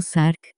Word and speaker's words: SARC: revisión de actividades sensibles un sarc pronunciado sarc es un proceso de